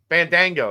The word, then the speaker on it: Bandaogo: Bandaogo, that's what it was.